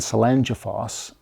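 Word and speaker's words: Seljalandsfoss: This was during the midnight sun, and I was behind Selangeffoss, is how I believe you pronounce this waterfall, and I wanted to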